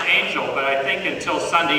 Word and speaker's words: Angell: W I always was an American so I guess it's pronounce Angel but I think until